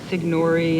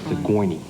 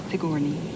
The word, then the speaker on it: Sigourney: than it is you I get Signori and saguni but it against Sigourney Sigourney yeah so what does